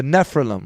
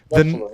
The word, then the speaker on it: Nephilim: The original Sumerian are the they call them the how do you say, the Nephilim, right? Nephilim, yeah.